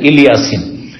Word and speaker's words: ইলিয়াসিন: সালামুন আলা ইলিয়াসিন, ইলিয়াসিন ওই ইলিয়াসের আর একটি মানে উচ্চারণ হচ্ছে ইলিয়াসিন।